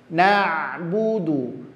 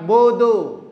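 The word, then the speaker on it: نعبد: dengan dalnya sama-sama dah na'budu na'budu Tamam vokal dah adalah huruf u jangan bodu Bu du tidak Buu wa iyaka nastainin nasta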